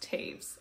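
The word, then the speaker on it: Toews: talking by miriam taves i think my friend actually said it's pronounced taves ashley is that what you said i remember being surprised by how it's pronounced this book is about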